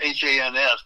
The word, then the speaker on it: Hans: It's H-A-N-S, but it rhymes with chance.